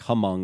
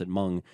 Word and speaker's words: Hmong: I was in the Hmong it sounds like hung if you look at it but they're pronounced among gorilla Territory and Laos